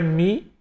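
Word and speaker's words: μ: O mi, o nome da letra é mi, tem som de M, tá?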